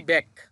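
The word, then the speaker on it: 백: উচ্চারণটা হবে ব্যাক। এটা হচ্ছে বিউপ, বিউপের ব সাথে হচ্ছে এ, তার মানে ব্যা, আর নিচে আছে গিয়ক, গিয়ক নিচে বসলে ক হয়। তাহলে এটা হবে কি? ব্যাক।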